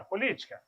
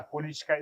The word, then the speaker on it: política: How would you spell politics? P-O-L-I-T-I-C-A with an accent on the first I.